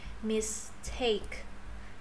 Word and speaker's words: mistake: Nhấn chữ take vô.